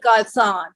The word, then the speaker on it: garçon: Is it supposed to be French? Yes. Oh, yes. It's Garçon. So would that be Garçon? It is Garçon.